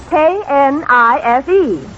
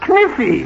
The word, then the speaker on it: knife: K-N-I-F-E. K-N-I-F-E. That's kniffy. No, the word is knife. K is the silent letter. K is always silent in front of N.